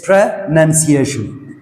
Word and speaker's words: pronunciation: We are practicing pronunciation. Pronunciation አይደለም ማለት ነው. It's pronunciation. Mind you, it's N-U-N, pronunciation.